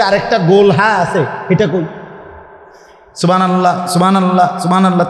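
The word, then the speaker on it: سبحان الله: ব্যাটা বলে কিছুই হয় না কিচ্ছু হইছে না সুবহানাল্লাহ কোন জিকির না আলহামদুলিল্লাহ কোন জিকির না হাতায়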